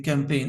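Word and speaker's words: campaign: তাহলে মনে থাকবে যেমন সি এম পি এ আইজিন ক্যামপেন উচ্চারণটা একটু অদ্ভুত টাইপের বানানটা আমাদের বিভিন্ন জায়গায়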